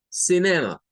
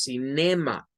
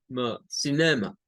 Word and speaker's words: cinema: Sin, ma. Sin, ma. Cinema. Ya cuando lo unimos. Pero no es como en español que decimos cinema. Es sin, cinema.